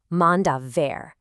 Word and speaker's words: Manda ver: Manda ver, pronounced Mandaver.